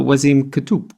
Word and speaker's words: Waseem Kotoub: Ann is my co-host we have talked to was iam could - did I pronounce it right yes superb so with all